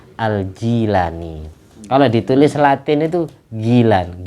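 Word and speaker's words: Al-Jilani: nama Syekh Abdul Qadir aljailani tapi umumnya kita bawa bacanya Al Jailani biasa ngomong Jay langkungnya apa orang Indonesia senengan fathah asinya yang benar itu kasr aljilani kalau ditulis latin itu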